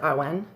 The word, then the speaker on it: Awen: Number 3, we have here Awen. Well, I pronounce it Awen. It's A-W-E-N. Awen? I want to say Awen.